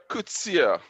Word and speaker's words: Coetzee: Welcome, Coetzee. Is that right? Is that how you pronounce the surname? Yes, that is correct.